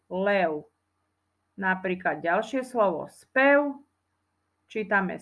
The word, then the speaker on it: lev: u nie zviera lev píšeme na konci z v ale čítame tam u lev napríklad Ďalšie slovo spev